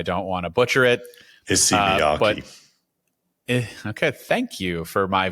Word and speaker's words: Issey Miyake: I'm not even going to try to pronounce the name because I don't want to butcher it. ISSEY MIYAKE.